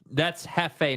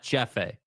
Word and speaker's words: jefe: So wait, that's Jefe, not Jeffe. Is that right? See how my name is Jeff. See how it's spelled? That's not Jeffe? That's Jefe.